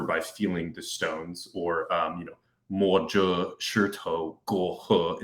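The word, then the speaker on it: 摸着石头过河: feeling the stones, or, mo zhe shi tou guo he is how you say it in Chinese.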